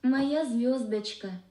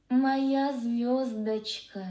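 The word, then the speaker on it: Моя звёздочка: Let me hear how that's actually pronounced. Моя звездочка. Моя звездочка.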